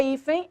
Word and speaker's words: hífen: A palavra hífen, a sílaba tônica é o i.